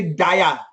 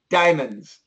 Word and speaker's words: diamonds: Do not say dia. Just say diamonds.